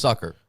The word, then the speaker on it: succor: It looks like it's Sucker. Sucker. It should be pronounced sucker.